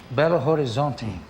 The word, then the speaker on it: Belo Horizonte: trip how do you say belo horizonte horizonte bello horizonte great you know what it means it's nice